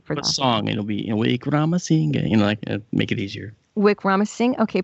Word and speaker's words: Wickramasinghe: Wickramasinghe. Okay, I can't say that. There's no way. I'm gonna have to rely on you for that. Song, it'll be Wickramasinghe, make it easier.